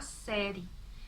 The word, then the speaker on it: série: A palavra série, é muito comum a gente falar série. Não pronunciamos a vogal E final.